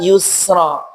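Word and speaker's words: يسرا: Sin pada kata usri dan sin pada kata yusra.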